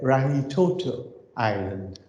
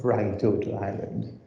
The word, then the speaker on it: Rangitoto: And this is, as is pronounced here, Rangitoto Island, Rangitoto Island.